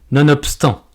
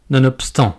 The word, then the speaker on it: nonobstant: de bosser c'est bon vous avez donc remarqué que le BE ne peut se prononcer autrement que par le son pe nonobstant nonobstant nonobstant n'allez pas pour autant